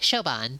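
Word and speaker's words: Siobhan: Could somebody tell me how to pronounce It's Shan. Okay, Shoban.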